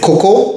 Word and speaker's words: cocoa: Cocoa is a more anglicized pronunciation, and cacao is a pronunciation that is closest to the native languages of Mesoamerica, and also the French and Spanish pronunciations.